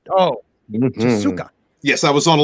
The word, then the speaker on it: Tezuka: Tezuka. Oh, Mhm. Tezuka.